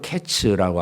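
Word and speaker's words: קֵץ: 끝이라고 표현을 합니다 내 히브리어로 이제 여름 과일이라고 하는 그 단어는 카이츠라고 하는 단어입니다 근데 끝이라고 하는 말은 캣츠라고 하는 단어입니다 그러니까 비슷한 말이에요 발음이 비슷합니다 뜻은 다르지만 그러니까 하나님께서이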